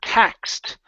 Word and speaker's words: taxed: go to the word taxed right here instead of taxed this Ed right here is a t sound yet taxed T yet